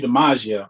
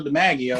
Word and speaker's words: Demagio: like, "Hey, are you Demagio?" He pronounced it wrong, so I was like, "Nah, no, Demagio."